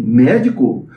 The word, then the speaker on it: médico: Ela fala assim: médico? Proparoxítona. Todas as proparoxítonas são acentuadas, acento tônico na primeira sílaba. Mé.